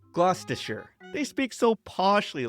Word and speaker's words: Gloucestershire: They don't say Gloucestershire, but instead Gloucestershire.